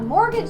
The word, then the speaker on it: mortgage: what's a load a mortgage loan and I bet you can't spell mortgage because it has a secret silent T in there um a mortgage